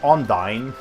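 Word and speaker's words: Undine: That's how you pronounce it in this game. It should be Ondine or Ondine, but in this game they pronounce it Ondini.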